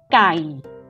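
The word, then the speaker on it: ไก่: The first one, gai, gai with low tone.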